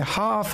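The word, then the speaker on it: half: जैसे देखिए would, L से पहले क्या है, यू है तो यहाँ पे साइलेंट हो गया। शुड में काफ है, हाफ है, सॉलम है, टॉक है, यॉक है।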